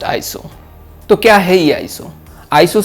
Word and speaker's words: ISO: So, it is not pronounced as Eye-es-o. It is just eye-so.